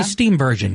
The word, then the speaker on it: Steenburgen: Yeah, Mary Steenburgen.